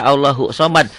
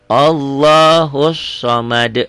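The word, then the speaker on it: اللَّهُ الصَّمَدُ: allahus masuk ke sini banyak orang yang baca Allahu Somad kalau Allahu Somad ini Alif lamnya berarti bukan alif lam syamsiyah enggak ada Alif lamnya itu ya di sini harusnya allahus Somad yuk allahusad Shad ya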